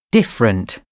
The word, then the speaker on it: different: Pronounced with two syllables. Chocolate. Different.